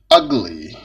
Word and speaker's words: ugly: Okay, ugly, ugly, ugly. Okay, وده بيتنطق مش يو.